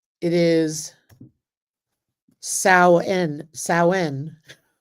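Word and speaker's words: Samhain: It is sen sen, but that's how you pronounce it. It looks like Sam Hayne, but it's sin.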